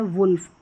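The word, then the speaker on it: wolf: यहां पर ओ है। यहां पर उ करके पढ़ा जा रहा है। वूमेन और यहां पर है वुल्फ। उ करके।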